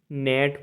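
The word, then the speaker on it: gnat: sign मतलब चिन होता है जी एन एटी नेट पढ़ेंगे मतलब मच्छर होता है डीई एस आई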